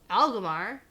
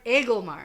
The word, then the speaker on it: Agelmar: Nope. Damn it. You're so close. Lord Agelmar. You weren't actually that close. Algamar. What did I say? I don't know what you say or how you say it, but you say it wrong every time.